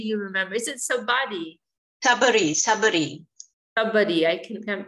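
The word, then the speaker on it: Shabari: The lady who, Gurudev, Sabadi, was it Sabadi? Yeah, she tasted, it's mentioned in the Ramayan. Oh, Suvasanidhi, maybe you remember. Is it Sabadi? Sabari.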